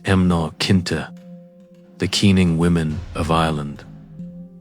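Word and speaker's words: mná caointe: To understand the banshee, you must first understand the emancoin pronounced emnar kinta.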